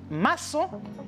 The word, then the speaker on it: maçon: Por lo tanto, se pronuncia como si fuera una S. Por lo tanto, je dis maçon en nuestra materia français.